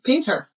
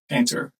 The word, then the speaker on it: Paynter: Paynter. Paynter.